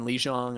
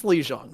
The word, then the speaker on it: Lijiang: I mean, Lijiang, I think Kevin Fan Club has map pick, right?